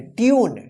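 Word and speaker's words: tune: देखिए टी यू एन ई इसको क्या पढ़ेंगे ट्यून क्या पढ़ेंगे ट्यून ट्यून देखिए यू उच्चारण हुआ है ना ट्यून अब इसको क्या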